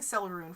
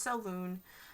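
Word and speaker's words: Selûne: it's spelled s e i keep saying celeroon for some reason it's just so loon it's s e l u n e um she is um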